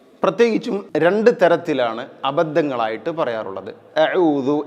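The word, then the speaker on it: أعوذ: രണ്ടുതരത്തിലാണ് അബദ്ധങ്ങൾ ആയിട്ട് പറയാറുള്ളത് അഊദു എന്നുള്ളത് ഔദു എന്നും പറയും ഔദു എന്നും പറയാറുണ്ട് ഔദസു എന്നുള്ള പദം നോക്കൂ ഇവിടെ ഔദു എന്ന് പറയുന്നു അതുപോലെതന്നെ അഊദു എന്ന് പറയുന്നു ചില ചെറിയ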